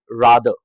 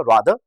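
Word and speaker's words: rather: जैसे पहला वर्ड है रादर, ब्रिटिश इंग्लिश में इसको कहा था रादर, अमेरिकन इंग्लिश में इसको कहा था रैदर।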